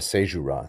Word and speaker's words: caesura: diaeresis, it is instead a caesura, or a caesura, some pronounce it that way.